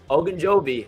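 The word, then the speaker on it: Ogunjobi: are interested in them as we know larry ajinjobi i probably already bought that joe told me how to say it beforehand um okay okanjobi there we go larry ogunjoby and linebacker quan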